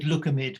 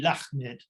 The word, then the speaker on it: Lakhmid: You said Lukamid, but I mean it's actually Lakhmid.